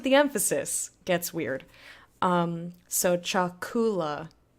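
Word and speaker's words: chakula: emphasis gets weird so Chuck Oola pronunciate their emphasis goes on the second-to-last syllable me me the word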